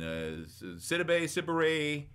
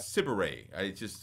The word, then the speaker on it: Sidibe: he summons Becky, who is Gabrielle Sidibe, and Sidibe. Yeah, that's right. Sidibe. I always mispronounce her name.